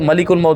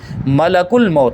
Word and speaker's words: ملک الموت: فرماتے کہ ملک الموت، یہ بھی یاد رکھنا، یہ اس کا تلفظ کچھ لوگ ملک الموت بول دیتے ہیں، ملک الموت نہیں، ملک الموت۔ موت کا معنی جانتے ہیں؟